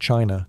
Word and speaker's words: qi: In ancient China, health was never just about flesh and bone. It was about energy. The invisible, vital force called qi, pronounced chi, flowed through every living